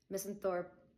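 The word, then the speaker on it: misanthrope: Misenthorp, I believe, is how it's pronounced, is when you are just a hater of human beings in general.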